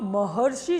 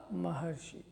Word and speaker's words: महर्षि: अब महर्षि शब्द का हम उच्चारण कर रहे हैं तो महर अर बोलने में आ रहा है, और अर बोलने में आएगा इसका मतलब इस प्रकार